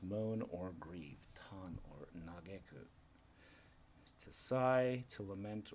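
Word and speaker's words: 嘆く: Pronunciation, emphasis on get.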